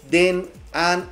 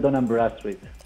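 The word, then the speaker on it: Dun & Bradstreet: Él me corregirá cuál es la pronunciación correcta, pero es Cial Den An. ¿Cómo se pronuncia, mi estimado Adrián? Bienvenido, ¿cómo estamos? Buenas tardes, Miguel. El nombre es Cial Dunham Bradstreet.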